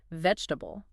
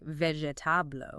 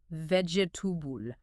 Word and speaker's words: vegetable: Take a word like vegetable. Many learners might pronounce every single syllable like vegetable, right? Stretching it out. Yeah. But native speakers often reduce that vowel sound so it's closer to vegetable.